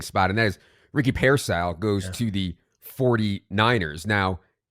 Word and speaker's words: Pearsall: impact in It's Pearsall, dude. Pearsall, there we go. Not Parasail. Okay, it's Pearsall.